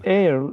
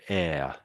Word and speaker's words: heir: The air of the scissors. Ah, yes, that's it. Yes. Yes, that's it. Spot on. So air air. So this is one of those words where the H is silent.